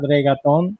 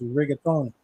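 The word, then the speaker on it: reggaeton: It's not reaton. It's riaton.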